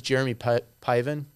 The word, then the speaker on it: Jeremy Piven: order to get back to heaven it was jeremy piven did i say his name right yes see